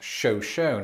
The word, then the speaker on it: Shoshone: But the city is pronounced Shoshone, and to this day, Idaho, how I got that wrong.